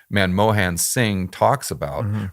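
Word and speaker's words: Manmohan: that monom man uh man Mohan I always mispronounce the name man Mohan sing talks about right and if you've got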